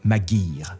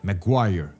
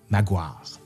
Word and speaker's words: Maguire: la langue d'ici et Thomas magir Maguire comme on devrait le prononcer comme la rue à Québec à Québec on dit Maguire il nît à Philadelphie